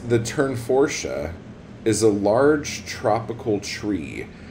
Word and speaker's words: Tournefortia: can't even see what I did it's actually pronounce turn forche turn forche turn forsche that is what the pronunciation video said and